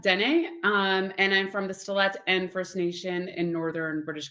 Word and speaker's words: Stellat'en: Okay, so I'm Dene, and I'm from the Stellat'en First Nation in northern British Columbia.